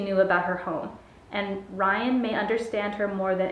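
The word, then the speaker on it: Raihn: I looked up the pronunciation and it said Ryan. I thought it was Rain. I don't know, I'm confused with the pronunciation of his name, but I'm gonna go by what Google said, and it was Ryan, is dangerous.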